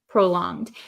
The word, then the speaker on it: prolonged: prolonged prolonged so uh in the word prolonged um we don't say it as a hard G it's not prolonged prolonged but um it's the same like if you know like ing so or the word long l o n g we don't say long but we say long